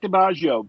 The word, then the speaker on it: DiBaggio: We have Shell Presto and Mike DiBaggio, both of whom, if I'm pronouncing that wrong, I apologize. No, that's correct. All right. I pronounced it like I imagine an Italian name would have been pronounced.